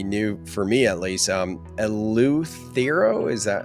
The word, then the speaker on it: Eleuthero: Eleuthero, is that how you say it? Yeah, Eleuthero.